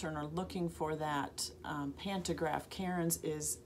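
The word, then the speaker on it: Keyron's: And if you're a long arm quilter and are looking for that pantograph, Karen's is spelled K-E-Y-R-O-N-S, Karen's Chevrons.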